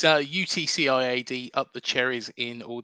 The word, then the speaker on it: UTCIAD: Because I don't know if you actually Yeah, of pronounce it. course. Go on. It's UTCIAD, up the cherries in all departments.